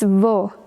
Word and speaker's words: vô: It's vô with the little hat accent on the o, the circumflex.